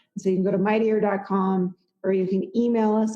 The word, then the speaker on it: Mighteor: Like a Mighty Meteor.